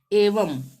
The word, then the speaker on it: एवं: अब यदि किसी शब्द के अंतिम अक्षर पर अनुस्वार होगा तब वहां पर उसका उच्चारण आधा म के रूप में होगा, अंतिम अक्षर पर। जैसे एवं, अब ये यहाँ अंतिम है